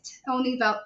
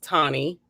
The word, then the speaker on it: Toni: know it's actually pronounced tawny okay um like tonic without the c is what i like to say gotcha um i'm a